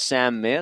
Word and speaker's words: Meir: So we've just heard that it's pronounced Sam Meir, so apologies to Meir and his family as Trent takes us away for this throw up.